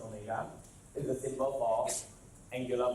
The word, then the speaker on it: omega: So omega, this W-shaped thing here is pronounced omega, is the symbol for angular velocity.